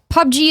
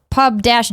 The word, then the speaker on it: PUBG: him says hey Greg pubg is pronounced pub-g oh my God like the word Pub and the letter G all right pubg pubg